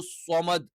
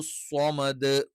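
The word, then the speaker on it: صمد: തന്നെ സ്വ സ്വ അപ്പൊ നാവിന്റെ ഏറ്റവും പിൻഭാഗം എന്ത് ചെയ്യും ഒന്ന് ഉയർന്നു നിൽക്കും അതേസമയത്ത് നാവിന്റെ ഫ്രണ്ടിലേക്ക് വരുമ്പോൾ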